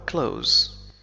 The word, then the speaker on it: close: فعل وفي المضارع هو close سأكتبه هنا I close لكن تستخدم كذلك بمعنى قريب مثلا he is close وفي هذه الحالة ننطق حرف S بس وليس ز he is close هو